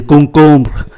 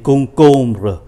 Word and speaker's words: concombre: Và chúng ta để ý khi phát âm ký từ M thì phát âm là N, bởi vì đứng trước B. Khi đứng trước B và P thì ký từ M được phát âm như là N. Do đó chúng ta tưởng tượng như là có hai chữ N, de concombre, dưa leo,